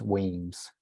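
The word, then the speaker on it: Wemyss: moved to toast them remember it's pronounced in brackets weems so we we should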